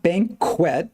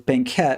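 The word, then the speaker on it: banquette: didn't uh earlier yeah it's not banquet with a Q it's banquet which is means built-in so it just means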